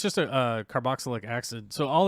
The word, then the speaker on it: carboxylic acid: I don't know how to say carboxylic acid. How do you say it? Let's pronounce it properly.